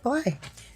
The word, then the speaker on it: Blythe: I mean, of course it's spelled like Blythe, but like I've learned Blythe, yeah. Yeah, it's just Blythe.